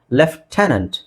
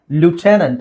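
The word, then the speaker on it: lieutenant: modified ಆಗಿರೋದು ಸೋ ಇದಕ್ಕೆ left ಇದರ ಉಚ್ಚಾರಣೆ ನಾವು ಉಚ್ಚಾರಣೆ ಮಾಡೋದಕ್ಕೂ ಅಲ್ಲ ಇರೋ ಅಕ್ಷರಕ್ಕೂ ಏನು ಸಂಬಂಧ ಇಲ್ಲ ಲೆಫ್ಟನೆಂಟ್ ಲೆಫ್ಟನೆಂಟ್ ಏನಂತ ಹೇಳ್ತೀವಿ ಲೆಫ್ಟನೆಂಟ್ ಇಲ್ಲಿ ನೋಡಿ ಲೆಫ್ಟನೆಂಟ್ ಲೆಫ್ಟನೆಂಟ್ ಆರ್ ಇನ್ ಅಮೆರಿಕನ್ ಇಂಗ್ಲಿಷ್ ಅಲ್ಲಿ ನಿಮಗೆ ಲ್ಯೂಟನೆಂಟ್ ಅಂತ ಹೇಳ್ತಾರೆ ಲ್ಯೂಟನೆಂಟ್ ಅಮೆರಿಕನ್ ಇಂಗ್ಲಿಷ್ ಅಲ್ಲಿ ಯುಟನೆಂಟ್ ಬ್ರಿಟಿಷ್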